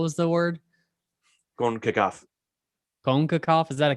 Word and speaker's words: CONCACAF: stupid anyway i believe i believe white people call it concacaf it sounds better when i say it like that or do i sound like sean connery konkakov maybe a little bit i actually like it